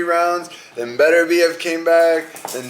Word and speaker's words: Beterbiev: You pronounce it exactly how you read it. Beterbiev.